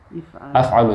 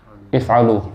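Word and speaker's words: افعلوا: How do you pronounce this one? Af'alu, he said. What do you say? If'alu. And you say? If'alu. Remember, there's no fatha.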